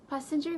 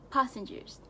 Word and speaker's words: passengers: People often mispronounce it as passenger, but the correct pronunciation should be passengers. Can you see the difference? It should be pronounced as passengers and not passengers.